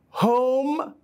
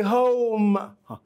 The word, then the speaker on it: home: This is not true. It is pronounced as O, O. So don't say go, say go. Don't say home, say home. Don't say no, say no. In your pronunciation, you make two movements by your tongue.